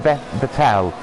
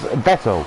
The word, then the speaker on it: Vettel: Or I don't know why I keep pronouncing him Vettel. It's Vettel. It's Sebastian Vettel.